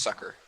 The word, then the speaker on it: succor: I'm pretty sure it's Sucker.